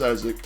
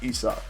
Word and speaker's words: Isaac: I mean, us Americans pronounce it as Isaac, but the French, it's Isak.